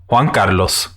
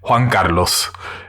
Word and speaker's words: Juan Carlos: your host juan carlos so that's how you actually pronounce my name in case any of you guys are ever wondering i don't do it because i feel like it makes me look like uh pretentious or something so i tend to mispronounce my name on purpose but it is juan carlos in case any of